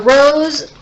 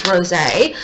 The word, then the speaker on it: rosé: this rosé, I'm sorry, it's got a little accent on the E, so it's not actually rose, it's rosé.